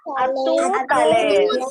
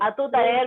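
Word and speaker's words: à tout à l'heure: Atu taler. Very soon. We atu taler means see you very soon, and you can pronounce that R here. R is not silent.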